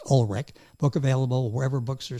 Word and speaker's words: Ulrich: U L R I C H pronounced Olrich.